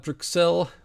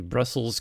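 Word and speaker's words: Bruxelles: bit going down at brel or the bruss Corner we should say brell is the French way of writing it it's not the correct way of pronouncing it I can tell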